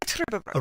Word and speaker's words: Trüberbrook: Oh, he's American, he's not saying it right. Right, okay, good. Because I would say Trüberbrook.